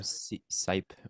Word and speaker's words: Sipe: It's Brian Sipe. Sipe. Wait, Or is that your no. answer? Is that how you pronounce No, it?